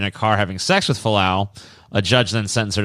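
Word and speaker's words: Vili Fualaau: Do you know how to pronounce this guy's fucking name? Falau. His name was Vili Falau.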